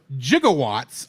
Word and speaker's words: gigawatt: jigawatts of electricity mhm this is a now obscure but once standard pronunciation of the word gigatt or which is one billion Watts nowadays is usually pronounced with a hard G in Romance languages however it was pronounced with a soft G I've also heard it